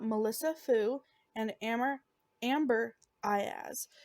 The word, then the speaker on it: Aiaz: name i wasn't i there was two pronunciations and one said i as and the other one said or ease so the first one was i ass so that's the one